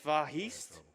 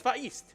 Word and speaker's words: Vahist: Also, I have Vahist 105 with $20 that says, note for commentator, it's pronounced Vahist without the H. Oh. Like the word histogram. Maybe I should have read that beforehand. So it's Vahist.